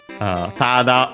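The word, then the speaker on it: ただ: Tada on its own, accent on the first mora on its own.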